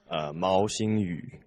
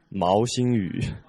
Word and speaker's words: Mao Xingyu: Mao Xingyu. Mao Xingyu. Yeah. Mao Xingyu. You know why it's familiar by Chinese people? How come? Because it's the same in pronunciation as the grandson of Mao Zedong.